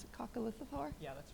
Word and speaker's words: coccolithophore: and it was this incredible, I'm going to mispronounce it, coccolithophore?